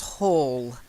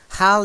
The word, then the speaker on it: howl: name especially pal so howl is like owl okay not like hall and all if you notice Double L you've got the all sound and with the single L isn't more of an owl sound okay not always you